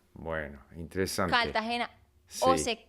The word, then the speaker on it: Cartagena: ejemplo, ya Sí, en Colombia hay una ciudad que se llama Cartagena. sí, Cartagena. pero los que viven allá le dicen Cartagena. Bueno, interesante. Cartagena.